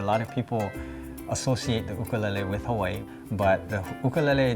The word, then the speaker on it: ukulele: And by the way, many people know it as ukulele, but it's actually pronounced differently. The proper pronunciation is ukulele.